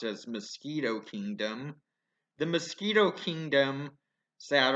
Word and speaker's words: Miskitu: Kingdom mingled by their British allies to be pronounced as mosquito kingdom the mosquito kingdom sat on the Nicaraguan